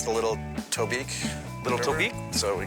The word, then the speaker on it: Tobique: What rhymes with Tobique? Oblique, kind of like you. Being a party to the writing process is grueling for me. Chic, like me. Reek, like you. Sleek, like me.